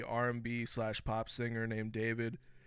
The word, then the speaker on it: d4vd: slash pop singer named David. His name is spelled out as d4vd. He's got one of those names where he takes a number and basically uses that to represent a letter within his name, kind of similar to